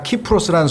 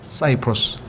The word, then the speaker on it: 키프로스: 라틴어에서는 K로 발음이 되고 영어로 가면 이게 S자로 발음이 돼서 그래요. 여러분들 그 그리스 앞에 터키와 이 중간에 있는 섬 하나가 키프로스라는 섬이 있죠. 그래서 거기 전쟁이 항상 일어난단 말이에요. 근데 영어로는 그게 사이프러스가 되는 거예요. 사이프러스.